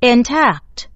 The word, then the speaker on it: intact: 30 Intact Intact Intact，重音在 tact，在第二音节。